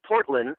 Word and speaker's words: Portlyn: It's called Portland, which is spelled Portlyn.